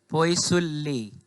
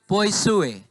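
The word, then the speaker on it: poiseuille: क्या जो मन करे पढ़ लेना, लेकिन इसका सही प्रोनाउंसिएशन होता है पोइसुए। ये होता है एल ई, सब साइलेंट हो जाता है। पोइसुए कहा जाता है इसको बस। ये सुए, ये डबल एल जो है ना, आप उसको साइलेंट मान के पढ़िए, पोइसुए ऐसा पढ़ा जाता है।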